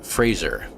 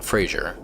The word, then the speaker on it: Fraser: Brendan Fraser. Not Frasier, Fraser, who correctly pronounced his name, saying it's been mispronounced his entire career through a little bit of a communication thing with everybody.